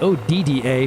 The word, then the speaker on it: Odda: Okay, so here comes Odda, which is spelled O D D A, but I saw a video of a local guy that was touring it, and it sounded more like he was saying Odda.